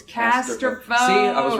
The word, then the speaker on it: Casterfo: It's Casterfo.